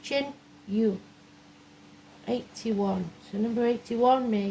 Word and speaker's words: Tinne: Chin U is what it's called, how it's pronounced. Chin U.